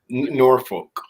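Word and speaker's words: Norfolk: Norolk.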